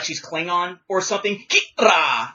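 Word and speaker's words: Qi'ra: Kira is how you perhaps are supposed to pronounce her name.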